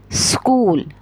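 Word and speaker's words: school: Word है स्कूल, स्कूल, स करके कहिए, जैसे सिटी बजाते हैं ना, ऐसे करके फिर आगे से वर्ड कहेंगे तो कभी भी आपका प्रोनाउंसिएशन जो है वो S से शुरू होने वाले वर्ड का, S से शुरू होने वाले वर्ड का S नहीं होगा, इस नहीं होगा, स नहीं होगा, बल्कि स होगा।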